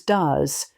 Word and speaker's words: does: Of course, in the third person singular, do becomes does. Note again the irregular pronunciation, even though the spelling is regular.